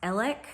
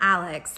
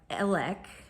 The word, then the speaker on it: Alex: to her it's pronounced elik Murdoch I think I'm saying that right so not Alex but elec and not murder but